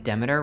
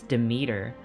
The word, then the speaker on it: Demeter: that for me yo everyone was telling me that i was pronouncing demeter wrong the greek god demeter they're like you're saying it wrong it's demeter and then i'm playing